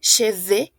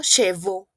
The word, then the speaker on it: cheveux: Aquí es muy importante la pronunciación de cheveux. Oui, cheveux y no chevaux. Porque si ustedes me dicen chevaux, estamos diciendo esto. Chevaux, es decir, caballos.